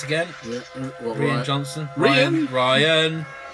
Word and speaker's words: Rian: Ryan. We all called him Rian at first because that's the way it's spelled.